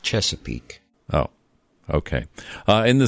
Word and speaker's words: Chesapeake: other places it's a lot easier than saying cheap skate Virginia it it's actually pronounced Chesapeake oh okay uh in the studio we' got